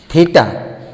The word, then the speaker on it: থিটা: কথাটা হচ্ছে থিটা, কিন্তু আমরা উচ্চারণ করি থিটা। তোমরা থিটা বলবে না, এটা উচ্চারণটা হচ্ছে থিটা।